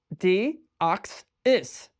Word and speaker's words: Deoxys: Deoxys.